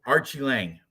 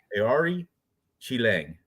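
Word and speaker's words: Aoriqileng: Chiang that I mean people like to say Archie Archie Lang Archie a AR something but it's it's Ari Chang that's how pronounced the Mongolian murderer is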